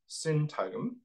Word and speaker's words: syntagm: Okay, so moving forward then to think through what we mean by syntagm. Okay, so this is a word that's spelled S-Y-N-T-A-G-M, syntagm, which comes from semiotics.